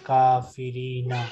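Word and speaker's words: الكافرين: Why, sir, we pronounce Alif? We don't pronounce. Kaumil kafirina. Yes. Silent.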